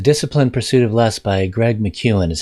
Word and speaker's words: Greg McKeown: called essentialism the disciplined pursuit of lust by greg mcewen is how he pronounces his name now the book has outrageously